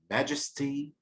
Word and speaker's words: majesty: Her life, her life, throughout her life, life, majesty, majesty, majesty, majesty. في كم مقطع هنا؟ 3. الاسترس في المقطع الاول يبقى لازم يكون الاسترس،